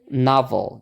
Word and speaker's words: novel: Oke tapi di sini kita pakai pola Nana Nah jadi yang suku kata yang ada o-nya itu di ada tekanannya makanya di sini kita bukan pakai Sha tapi pakai a gitu ya jadi bacanya novel gitu novel Oke lanjut